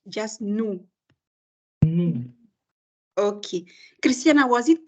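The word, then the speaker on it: nous: yes no without the we don't pronounce the S just no no okay Christiana was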